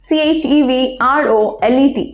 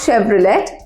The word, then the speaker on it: Chevrolet: CHEVROLET. Any guesses এই উচ্চারণটা কি হবে? সো ফাইন, এটার উচ্চারণ অনেকে কিন্তু Chevrolet করে, but it's not Chevrolet, it's actually Chevrolet. Fine, so CHEVRO, it will be LEY.